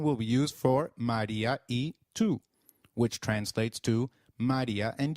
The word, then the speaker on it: y: Luis it means and it is pronounced same as the sound of the letter e in English so can you try saying e it is e alright